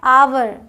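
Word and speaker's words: hour: फर्क ये क्या है आवर इसे हावर नहीं पढ़ना आवर इसे हेयर नहीं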